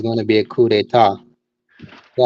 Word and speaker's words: coup d'état: And so you think there's going to be a coup d'état?